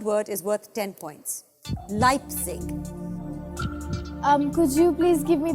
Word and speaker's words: Leipzig: I'm afraid that's incorrect the accurate spelling is le i p z IG leipzig that's how it's pronounced that's how it's spelt I'm afraid that